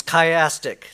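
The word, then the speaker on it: chiastic: skip this part I guess not okay it's chastic that is it's six chapters form a kaym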